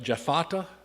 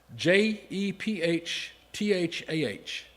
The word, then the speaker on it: Jephthah: uh I'm not going to be able to pronounce this. Je- Jephthah J E P H T H A H Jephthah Jephthah Okay, and David and Samuel and the